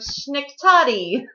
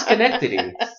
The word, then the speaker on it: Schenectady: Box 6126 in the city of Schenectady. I think it's Schenectady. Schenectady. We'll spell it out for you listeners.